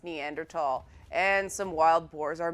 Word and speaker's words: Neanderthal: One of the things that I've learned from covering Far Cry Primal is it is not pronounced Neanderthal, it's pronounced Neanderthal.